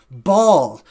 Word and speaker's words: Baal: It's a throat. It's sort of a guttural sound, Baal. Today we pronounce it Baal.